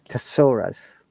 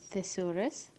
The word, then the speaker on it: thesaurus: listen to it carefully thesaurus thesaurus yes tesseras do you know what that is means okay notice that when you're pronouncing tank thick thin pasaras our tongue is touching our tooth feel it one more